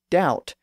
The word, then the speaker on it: doubt: centuries earlier so again from dubit to doubt we hear how that b sound in the middle was lost in French English writers usually spell